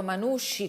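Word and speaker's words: Manushi: la nuova prima cittadina come pronunciato manusci con la s la h e la i senza la c si presenta così nel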